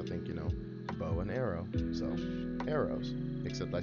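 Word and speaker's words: Airose: to be my future spitfire i named her arrows say a-i-r-o-s-e which i guess if you like for those who may pronounce it a different way they may they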